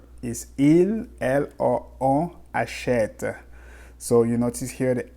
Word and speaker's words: achètent: Achète with ENT, but we say achète. You notice here that we don't pronounce the ENT, right? It's not achetin, it's achète.